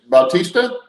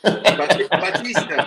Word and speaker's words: Bautista: Like Steve said, we want to welcome, and it's Bautista. Yep. Bautista. Yeah, I told you, Steve. Bautista.